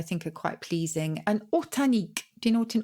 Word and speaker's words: ortanique: Or horta, and the nique is on the end, like picnic.